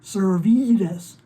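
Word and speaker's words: Servetus: room named after him but everyone pronounces it ser vedas i guess that's a regional accent frank was ferric david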